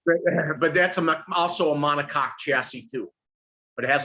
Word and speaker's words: monocoque: but that's also a monocoque chassis too. But it has a drive shaft. Monocoque. Is that really how you pronounce that?